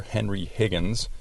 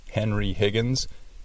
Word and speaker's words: Henry Higgins: Did you notice how she pronounced Henry Higgins? Ella dice Henry Higgins. No es correcto.